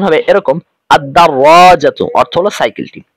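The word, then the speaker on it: الدراجة: তখন উচ্চারণ হবে এরকম আদাররাজাতুন অর্থ হলো সাইকেলটি এখানে লাম হরফটি উচ্চারিত হবে না কেন কারণ আমরা জানি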